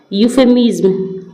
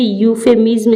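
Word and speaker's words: euphemism: ठीक है फिर है 48 48 में है यूफेमिज्म तो यहां पे यूफेमिस्म इसको ये इ से शुरू है लेकिन हम इसको पढ़ेंगे यूफेमिज्म इसको पढ़ा जाता है तो इसलिए यहां पे लगेगा ए अ यूफेमिस ठीक है?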